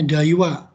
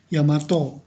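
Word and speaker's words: 大和: Dulu Yamato ya, Yamato itu Jepang, bacanya Daiwa. Kadang-kadang dibaca Yamato, ya Yamato di Ginko. Berarti itu produk Jepang, Yamato itu. Tapi kadang-kadang dibaca Daiwa, ini artinya hewa itu kedamaian.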